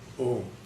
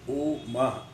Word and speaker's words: Om: When you start pronouncing these words, you will find A starts from your mouth, U starts from your throat, Ma starts from your pit of the stomach.